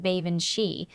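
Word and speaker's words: bean sídhe: He pronounced it like Ban Shei.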